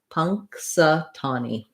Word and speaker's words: Punxsutawney: punk punk satani um letter u says vowel schwa the uh sound and then our stressed syllable is the tah syllable here that's going to be longer and have the clear vowel it's the same vowel as in the word saw the rounded ah you can use that word saw to help you with